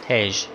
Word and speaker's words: Tej: Tej.